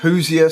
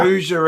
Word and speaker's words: Hoosier: Is it if I pronounce it right, which I won't, the Hoosier State? Is that it? Is that it called? Hoosier State. Hoosier That's State. Right. That's it. I don't even know what a Hoosier is.